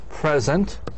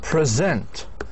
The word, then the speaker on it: present: same letters they have they spelled the same way however they are pronounced in different ways present present present the th locates on the second syllable and there is a